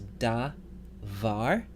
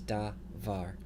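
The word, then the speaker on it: דָּבָר: can't be correct so the correct answer is da var the first syllable is unstressed and open with a long vowel that's allowable the second syllable is closed with a long vowel but that's okay because it's the stressed syllable so da VAR da var that word means word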